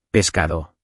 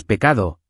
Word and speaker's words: pescado: Di pescado con esa S clara, pescado. Si quitas la S, dices pecado, que es otra cosa, un psin.